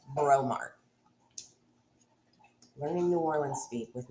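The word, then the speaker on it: Breaux Mart: local family owned yeah b-r-e-a-u-x Mart bromart learning New Orleans speak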